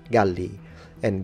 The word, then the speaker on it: Gallia: But we call them Gauls, Galli and Gallia, with a long A when it comes to phonemic vowel length, when it comes to the area.